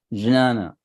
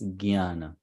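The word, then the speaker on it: ज्ञान: correct so yes so then some people would pronounce it as janana you know if you come to Maharashtra area they will say they'll start it as Jana but then Northern India they will pronounce it as Guyana gy right so the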